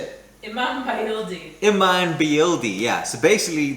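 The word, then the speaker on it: İmam bayıldı: We're doing a Turkish salad, which is pretty much something called an Imam biryani, which is might not be the exact way to say it. How do you say it? Imin Bayildi.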